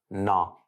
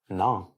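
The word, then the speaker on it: நான்: Le N final est un son nasal. Il se prononce na. Je répète na.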